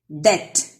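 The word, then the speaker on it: debt: Det, B is silent.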